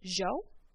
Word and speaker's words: yo: word genre so if you ever hear zhou like the word y o y o which means i can be pronounced jo or yo so that yes sound